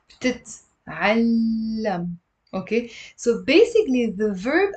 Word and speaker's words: بتتعلم: It's actually بتتعلم. It's also one of these complicated words to pronounce. Why? Because most of my students drop one of the t's.